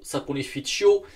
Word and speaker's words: Saponificio: Aujourd'hui, marque italienne Saponificio Varesino. Donc je pense que plus en français, on a l'habitude de dire Saponificio, mais pour la prononciation italienne, c'est Cio Saponificio, qui veut dire savonnerie.